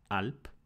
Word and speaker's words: ʔalp: So in Sinaitic, these would have been pronounced alp, bait, and gamel.